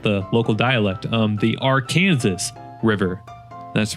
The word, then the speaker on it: Arkansas: near the Santa Fe Railroad crossing over the Arkansas River. Oops, I'm sorry. Uh, yeah, I forgot the local dialect. Um, the R Kansas River.